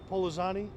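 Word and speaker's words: Pollozani: Can you say your last name again, please, and spell it? Sure. Polozani, P-O-L-L-O-Z-A-N-I.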